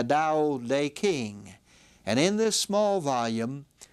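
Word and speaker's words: Tao Te Ching: book was called the da day King again the D the t is pronounced as a d the da day King and in this small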